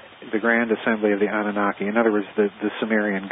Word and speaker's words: Anunnaki: The Anunnaki.